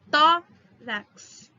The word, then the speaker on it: tórax: Tórax. 2 sílabas.